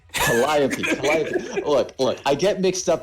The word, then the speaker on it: Calliope: How do you pronounce that last name again? Calliope. Calliope.